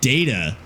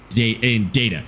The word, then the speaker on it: data: Why would you pronounce the A's differently in data? Because the second A modifies the first A.